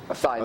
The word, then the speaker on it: Asahi: How do you pronounce that? Asahi. Asahi.